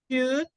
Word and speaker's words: should: In this word, L is silent, and this word, L is also silent. So, could be happy. Please repeat. Could Could. Yes. could be happy. Would enjoy. Would, oh, it's difficult. Will enjoy. Yes. So it's could and would Would. and Okay. should. In all of them, L is silent. Could, should, would. Okay?